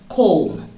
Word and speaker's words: comb: Comb. It is comb. The B is silent.